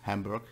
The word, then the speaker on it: Hamburg: Then Oldenburg, Bremen, Stade, Hamburg, which is Hamburg in English, Holstein, or Holstein, depending on your accent you have.